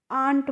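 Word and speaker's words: aunt: तो देखिए ए एन टी और ए यू एन टी दोनों का ही प्रोनाउंसिएशन सेम होता है। यानी कि दोनों को ही हम आंट पढ़ते हैं।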